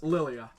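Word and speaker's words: Lilja: J and then the egg and that is pronounced ondrea's Lilia oh I'd say that'll do it for this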